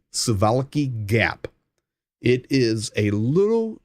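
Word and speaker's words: Suwałki: called the called The suvalki Gap I know it's a w but it's pronounced with a V sivalecki Gap it is a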